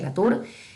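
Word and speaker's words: Latour: el de la Tour, antes creo que lo pronuncié mal, creo que se pronuncia la Tour, e problematizan no solo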